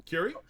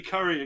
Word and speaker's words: Curie: up until Curie? Oh, you said it right. I was waiting for you to say Curry again.